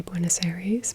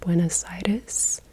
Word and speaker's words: Buenos Aires: probably going to hate the way that I say buen aaries because it's just the way we say it in English-speaking countries but I did look up how you say it properly and it seems like it's more like buen aitis but if I say